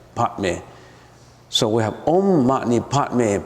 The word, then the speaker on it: Padme: Padme, if you pronounce it right, is Padme.